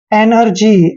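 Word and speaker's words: energy: और यहाँ पर भी देखिए एनर्जी, एनर्जी में भी जी के बाद वाई आया है तो जी का उच्चारण हमने यहाँ पर जय किया है, मतलब जी को जय पढ़ा है, एनर्जी।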